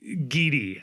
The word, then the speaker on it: Gidi: So, I I am excited about Giddy I I guess is is how we pronounce it. So yeah, just like Samuel Giddy, I of course I'm